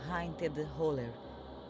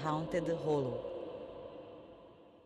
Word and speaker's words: Haunted Hollow: Minha mãe cresceu num lugar da Geórgia chamado Haunted Holler, que pronunciado corretamente seria Haunted Hollow.